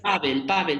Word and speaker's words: Pável: Pavel, bueno, como se diga, pero yo lo digo Pavel. Porque tienes el acento en la A, por En eso. la A, exacto.